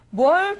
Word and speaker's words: 뭘: 그런데 쉐인 같은 경우에는 첫 번째 문장에 있었던 뭘 도와드릴까요? 이 부분이 좀 안 됐던 것 같아요. 다시 한번 해볼까요? 어서 오세요. 뭘 도와드릴까요? 어서 오세요. 뭘 도와드릴까요? 예, 뭘에서 리을 발음이 있는데 그게 원으로 들리거든요.